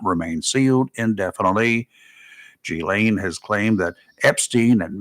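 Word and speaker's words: Ghislaine: and accomplice gain Maxwell lots of ways to try to pronounce gain gain Gan is the cor correct way British terminology settled in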